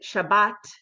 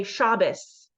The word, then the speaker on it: Shabbat: so the ashkanazi Jews the Eastern European Jews pronounced it as an S sound so instead of saying Shabbat which is the Sabbath they say shabus with an S sound